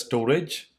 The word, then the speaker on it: Storj: the description says right what is storage storage pronounced as storage is open source cloud storage platform basically it